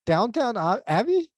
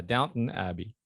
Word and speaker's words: Downton Abbey: Although I loved like Downton Abbey, you know. Um, yeah, just thought I'd What's it throw that called? in there. Is it Downtown Abbey?